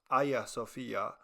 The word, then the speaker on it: Hagia Sophia: Construction took 40 years, from 690 to 730, and it was modeled after the Hagia Sophia, or properly pronounced Hagia Sophia, located in Istanbul, Turkey, which was then Constantinople, the capital of the Byzantine Empire.